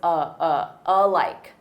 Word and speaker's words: alike: notice for pronunciation alike alike is one word. But that letter A is unstressed and the syllable stress is on like so. It's alike, alike.